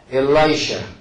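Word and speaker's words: Elisha: 또 있지 엘리사 엘리야 제자 그분은 요게 돼 엘라이샤 또 엘라이자 이 스승하고 제자가 비슷비슷해요 그죠? 근데 스승님은 엘라이자하고 자 발음이 엘라이자 이 엘라이자 근데 이 발음이 에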